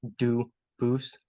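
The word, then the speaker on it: Dubois: They do pronounce it Dubis, but you said you pronounce it Dus as the original Duboose as the original French.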